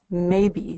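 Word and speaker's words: Maeby: Her name is Maybe, spelled M A E B Y. Sounds like the word maybe.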